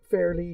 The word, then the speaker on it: Faerly: So Faerly, it is spelled Faerly, but pronounced Faerly, just like I'm fairly looking forward to opening this.